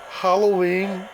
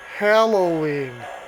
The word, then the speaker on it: Halloween: the Lionel he pronounces Halloween in the American way Hollow as in empty well Halloween is spelled with an a not with an O Okay and the Brits pronounce it mostly Halloween because that's how it's